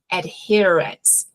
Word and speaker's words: adherence: A gente tem um H ali antes do her. Então, esse H ele vai sair também, tá? Então, quando eu vou falar de adesão à medicação, é medication adherence.